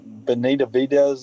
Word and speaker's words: Benavides: Mr. Benavides is how you say it.